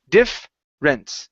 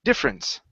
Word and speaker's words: difference: you is the word difference instead of saying difference okay the eer there in the middle we remove that e so it's difference difference difference good one more